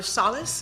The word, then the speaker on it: Salas: We'll begin with Captain Sallas. Am I pronouncing that right, sir? Salas is correct.